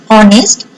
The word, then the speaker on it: honest: Honest, here is also silent H, so an.